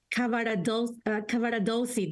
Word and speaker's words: Cavaradossi: He's going to be Cavaradossi, that's how you say it, I'm sorry.